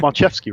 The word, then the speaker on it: Marczewski: So you got Marczewski right. It's the one that gets everyone. They all kinds of pronunciations.